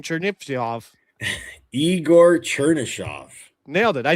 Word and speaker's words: Chernyshov: Oh, the guy I said who I can't pronounce his name, Chernivtsev. Igor Chernyshov.